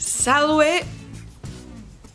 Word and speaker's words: Salve: Salve. Or some people like to pronounce the V as a V and not as a W, so Salve dies Mercurii est hodie.